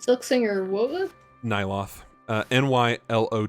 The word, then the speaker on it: Nylo: silk singer Nylo silk singer what Nylo uh n y l o t h oh I'm an idiot it' be pronounced Lo Nylo my apologies um they do